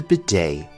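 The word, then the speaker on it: bidet: European countries is the Beday the tea here is silent this is a French word in origin so it is pronounced a little bit differently than you might expect the bedet is used for cleaning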